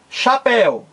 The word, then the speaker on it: chapéu: Olha aí chapéu ora chapéu é uma palavra que tem duas sílabas aqui você tem a última sílaba e aqui a penúltima sílaba chapéu não é uma palavra para oxítona é uma palavra oxítona porque o acento tônico mais forte cai na última sílaba Diferentemente da de gibóia